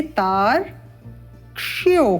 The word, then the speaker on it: तार्क्ष्यो: तार, इसको हम थोड़ा सरल करके लिख देते हैं इस प्रकार से, तार क्ष्यो क्ष यो, इस प्रकार से तार्क्ष्यो। उत्तमम। और अवग्रह का उच्चारण करते हुए तार्क्ष्यो अरिष्ट, श ट मूर्धा से उच्चारित होंगे श तथा ट।